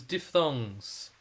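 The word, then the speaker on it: diphthongs: This is diff thongs. Um here's a public service announcement. The word is pronounced like this. Diff thongs.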